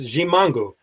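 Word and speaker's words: Ximango: The X is pronounced G, so it's Gimango.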